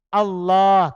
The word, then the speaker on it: Allah: dari asalnya itu ilah dihapus hamzahnya supaya ringan diucapkan jadinya alah makanya panjang Allah kan asalnya al-ilah uh hilangkan hamzahnya menjadi Allah maknanya Al makluk Allah